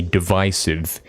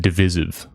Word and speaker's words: divisive: But then the obvious wrong one is when guys say divisive instead of divisive cuz it's division, right?